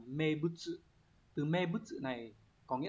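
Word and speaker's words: 名物: Từ đầu tiên, các bạn có từ này đọc là mebutsu.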